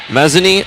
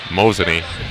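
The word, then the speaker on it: Mazomanie: libero devin gorman she's out of mezzanine wisconsin is that how you pronounce it not even close no i that's why i haven't said where she's from all year because i have no idea how to pronounce that mosini mosini i was close yep kinda and molly mckiska she'll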